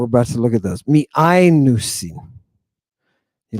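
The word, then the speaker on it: μιαίνουσιν: Miainusin. Accent over the iota. Now, the iota and the alpha are a diphthong. We're about to look at those. Miainusin.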